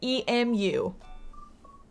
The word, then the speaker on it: emu: Okay, we just need, how would you pronounce the bird, E-M-U?